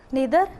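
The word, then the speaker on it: neither: और इसी तरह जो कोरिलेटिंग, ये कॉम्बिनेशन ऑफ टू कंजंक्शंस होता है, जैसे इधर और नीदर नॉर, और आइदर और नाइदर नॉर। आप दोनों तरह से इसको प्रोनाउंस कर सकते हैं।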